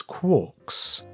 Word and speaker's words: quark: referred to these subhadronic fragments as quarks rhyming with pork but he never considered